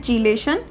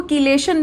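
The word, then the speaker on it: chelation: इस प्रोसेस को हम क्या बोलते हैं, चीलेशन। कई लोग इसको कीलेशन भी बोलते हैं। बोथ प्रोनाउंसिएशन इज करेक्ट, ठीक है, दोनों की दोनों प्रोनाउंसिएशन हमारी सही है।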